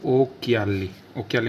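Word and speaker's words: occhiali: और एग्जाम्पल ले सकते हैं हम जैसे ओक्याली मतलब होता है चश्मा, ठीक है। क्या है सी के बाद क्या है, H, तो CH को क्या पढ़ेंगे, कै, तो ओक्याली मतलब होता है चश्मा।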